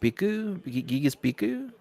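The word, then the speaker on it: Bhikkhu: to pronounce that because I don't want to pronounce it I am King yes it's b-h-i-k-k-h-u Biko vehicular manslaughter shut up all right right now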